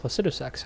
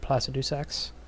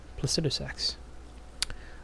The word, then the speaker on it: Placidusax: First of all, it's pronounced Placidusax, huh? I've seen some people pronounce it that way, so I was like, okay, I've always said Placidusax. Well, now I know. Placidusax.